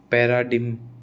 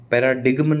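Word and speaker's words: paradigm: नहीं बोलेंगे कभी भी असाइन कंपेन कंपेन पैराडिम ठीक है पैराडाइन पैराडिग्मन नहीं बोलते मैं इसको पहले पैराडिग्म बोलता था पैराडाइन है ना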